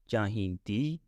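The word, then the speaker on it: ਚਾਹੀਂਦੀ: at the end, and feminine singular is chahindi, the sound at the end, with the feminine plural chahindiya, alright?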